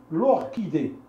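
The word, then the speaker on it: orchidée: كيتنطق ك بحال هاد الحاله هادي هاد الزهره هادي كتسمى لوركيدي لوركيدي الوغ كتكتب سي اش ولكن ما كنسمعوش كنسمعو ك لوركي لوركيدي لوركيدي لوركيدي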